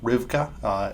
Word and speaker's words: Rivka: 1 and 3 go together, so 1 and 3 are about Rivka is the better way to say her name.